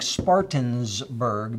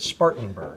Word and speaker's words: Spartanburg: out in Spartanburg yes you've taught me how to say it right I've been saying Spartans burg because we had a Spartans store and now it's also I fixed it Spartanburg yeah but anyway it's